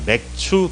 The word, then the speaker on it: 맥추: 이 라고 하는 거죠 발음을 똑바로 해야 되요 맥주 감사가 아니라 맥추 감사 하고 보리를 수확하는 이런 것들에